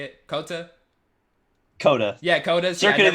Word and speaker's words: COTA: you say again David how you say it Cota Cota yeah Cota circuit of the Americans yeah